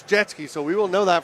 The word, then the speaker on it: Jetski: It's not Setsky, it's Jetski, so we will know that for the next one.